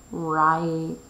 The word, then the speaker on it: ripe: Ripe. I have to add a silent E so that this will say ripe.